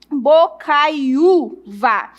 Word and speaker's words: Bocaiuva: Bocaiuva, nós temos o um, o u outra vez, né, na paroxítona, penúltima sílaba forte.